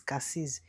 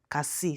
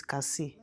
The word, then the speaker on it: Cassis: Cassis en anglais, in English is Cassis, mais en français, on prononce pas les S. Cassis, so it's Cassis.